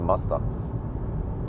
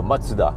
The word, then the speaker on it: Mazda: And also I have to do no, it's a Mazda, or Matsuda. I think that's what it's called. I watched a video about how to pronounce Japanese car brands and Japanese brands in general. So I think it's called Matsuda.